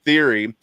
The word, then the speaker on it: TH30RY: So Theory, TH30RY is how he pronounces his name.